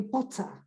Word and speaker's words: Potter: The ER at the end is A for them. So Harry Potter is not Harry Potter as it is for the Americans, right? Do you understand it? How do the Americans say Harry Potter? They don't say Harry Potter, they say Harry Potter. Potter, because, yeah. But, well, the Americans pronounce ER, but the British reduce ER to A.